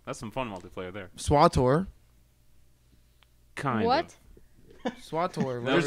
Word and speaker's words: SWTOR: But if it's KOTOR, then it would be SWOTOR. SWATOR. SOTOR.